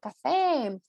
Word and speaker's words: café: Aí sim, quando termina em E, com acento gráfico, nós não substituímos a pronúncia, tá? Então é forte. Café, cadê? Tem um E aí bem claro, tá?